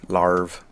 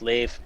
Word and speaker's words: Lave: Lave, lave, lave, larve. It's lave. Yeah, Lave. exactly. Lave. Whatever. How you pronounce things is totally irrelevant.